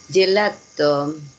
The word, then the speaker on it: gelato: Gelato. Ojo que no tiene doble, gelato. Ah, gelato. Ya, entonces ahí tenemos la pronunciación gelato. Mm, Acuérdense siempre, si no hay dobles, no paramos.